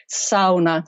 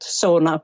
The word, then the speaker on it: sauna: educate the whole of the UK that it's pronounced sauna not sauna but you know it's a long way to